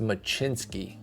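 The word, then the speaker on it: Mlodzinski: So I'd even go, this, by the way, this is pronounced Machinsky, believe it or not.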